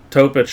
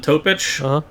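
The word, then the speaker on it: Topić: Topic. Yeah, it's spelled like a. Sounds like Jokic. Topic is a fun name. Rhymes with Jokic.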